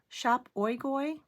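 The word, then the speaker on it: Shop Oigoi: And then Shop Oigoy, s h o p o i g o i, and I did ask them if that is the correct pronunciation, and it is.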